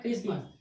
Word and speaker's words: Christmas: यानी कि उसमें ट आना चाहिए हिंदी में, लेकिन नहीं आ रहा है। क्रिसमस यानी कि टी साइलेंट हो गया।